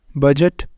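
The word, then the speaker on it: budget: पर हमारे पास है बजट अब डी यहां पर साइलेंट है एज एक नॉलेज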